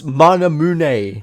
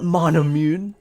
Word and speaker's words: Manamune: ] sake man like it's manamune not manamune what are you saying